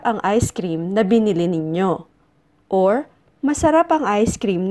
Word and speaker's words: ninyo: the taste of lambanog Our next pronoun is ninyo ninyo it is the plural form of you and your it is often pronounced as Noo noo noo is used to talk about the